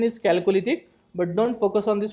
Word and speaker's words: Chalcolithic: Some called this as a calolithic. Correct pronunciation is calolytic but don't focus on this pronunciation.